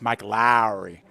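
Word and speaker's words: Mike Lowrey: Yeah, Joe, you got to say it right. It's Mike Lowry from the Bad Boys movie.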